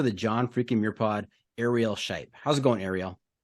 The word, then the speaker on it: Arielle: Now, did I get the pronunciation right? Arielle.